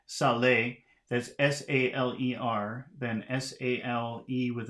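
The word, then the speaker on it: saler: same so now we have c row C Saleh that's s-a-l-e-r then s-a-l-e with an accent mark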